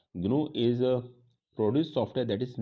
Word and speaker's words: GNU: तो पहला तो GNU को हम GNU नहीं पढ़ेंगे, इसे ग्नू पढ़ेंगे।